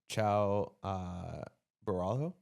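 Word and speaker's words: Caio Borralho: Ciao Borralho.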